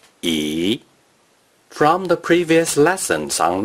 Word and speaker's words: 一: word or a character, which is the fourth tone or the neutral tone, the number 1 is pronounced E.